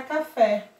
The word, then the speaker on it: café: a última nas oxítonas por exemplo a palavra café duas sílabas a mais forte fé quando está acentuada